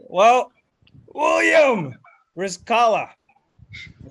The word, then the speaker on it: Rizqallah: yeah of course yeah all right well william rizzkala i said your name ryan right you did